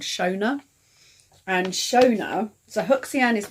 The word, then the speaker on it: Shona: And then Shona, which is pronounced Shannon, actually, so it's Shannon, is Irish, and it means wise little one.